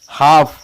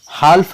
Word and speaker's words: half: HALF हाफ, हाल्फ नहीं पढ़ेंगे, क्योंकि यहाँ पे L साइलेंट है।